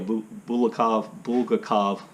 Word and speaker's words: Bulgakov: The only one I can think of, and I mention this book all the time, is The Master and Margarita by Mikhail Bulgakov.